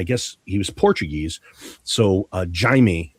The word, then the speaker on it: Jaime: Spanish would be Jaime, and I guess he was Portuguese. So Jaime, I've been told, is the correct pronunciation for Portuguese. Jay, Abby. So yeah, I would. Yeah, Jaime.